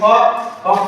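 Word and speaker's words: folk: गया कि अगर डी आता है तो एल साइलेंट होगा। इसी प्रकार 14वां एफ ओ एल के फॉक में क्या है, एल के बाद के है तो साइलेंट होगा।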